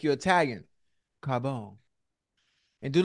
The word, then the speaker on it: Carbone: Carbone Carbone yeah say you gotta say it like you're Italian Carbone you got to say it right don't just say Carbone we know it's Carbone